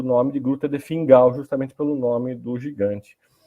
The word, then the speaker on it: Fingal: Aí você, em escocês, a pronúncia fica meio que Fingal, né?